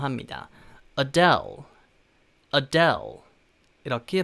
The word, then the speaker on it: Adele: 그래서 약간 아델이 아니라 사실은 어델, 어델 이런 느낌이거든요. 그래서 대를 좀 붙여서 발음한다는 느낌으로 Adele, Adele 이렇게 발음하시면 되겠습니다.